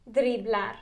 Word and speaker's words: driblar: Driblar. Oh, I like that one. Dribblar. Driblar. The I is an E.